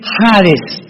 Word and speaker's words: hades: Esta versión del griego del hebreo al griego se tradujo la palabra seol con hades con h que muchos dicen jades. Se puede pronunciar así porque es en el griego.